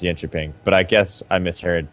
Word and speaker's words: Jönköping: I heard it pronounced Jönköping. But I guess I misheard. Or people were fucking... I'm pretty sure it's still the soft J. Soft J. Soft J? Okay. Yeah. Maybe... Jonkoping?